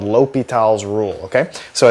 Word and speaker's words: L'Hospital: here on the screen, it looks like it's L apostrophe hospital's rule. And so you might be tempted to call it that, but the actual pronunciation is a French guy and so you pronounce things a little differently.